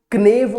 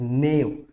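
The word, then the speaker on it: knave: इसको क्नेव प्रोनाउंस नहीं करेंगे। यहाँ पर जो के आपको दिख रहा होगा, यहाँ पर जो के आपको दिख रहा होगा, के जो है यहाँ पर जो के आपको दिख रहा है ये साइलेंट है, ये साइलेंट है। तो इसका जो प्रोनाउंसिएशन है that is नेव, नेव, नेव, नेव।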